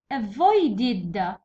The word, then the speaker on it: avoided: Next avoided، avoided it's id avoided.